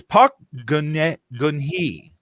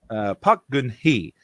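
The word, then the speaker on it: 박근혜: Oh my goodness, I looked up how to pronounce this yesterday, and I've plumb forgot. I think it's Park Geun-hye. Park Geun-hye.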